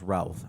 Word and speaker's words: Routh: Brandon I I think it's pronounced Routh. I don't know if it's Ruth or Routh. I think it's Routh.